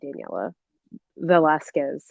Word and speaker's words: Daniela Velazquez: the way that I you know that I pronounce because I say I you know I do say Daniel I say Daniela Velasquez and like I I remember going through this